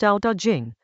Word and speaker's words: Tao Te Ching: Chapter 43 of the Tao Te Ching, pronounced Tao Te Ching, the Book of the Way and its power, opens with what sounds like a paradox.